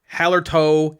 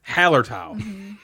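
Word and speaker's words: Hallertau: lahav what about hellertal hallard tau right not hallertoe hailer top it's haller towel haller top pronounce it my way please oh what else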